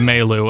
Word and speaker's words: Melu: I pronounce it Melu, and I'm gonna continue to pronounce it Melu.